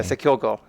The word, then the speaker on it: Sekilgo: On this model, it appears yeah, Sekilgo, because go is Japanese for language.